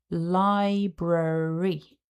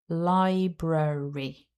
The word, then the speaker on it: library: Syllable 2 starts with the cluster br. Then there is a really weak schwa and another r sound. So together that sounds like brr. The final syllable is a little e. So if we put all the sounds back together, we have library.